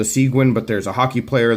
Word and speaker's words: Seguin: this one is called the Sagan or the siguen depending on how you pronounce it I've heard it from the kershaw people called the siguen but there's a hockey